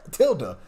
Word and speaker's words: tilde: He said tilde. I'll pronounce tilde.